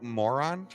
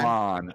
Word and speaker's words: Moran: Ernesto Moron? Is it Ernesto Moron, or am I saying his name wrong? I think it's Moran? Moran. I think it's Moran. Moran. He said Moran.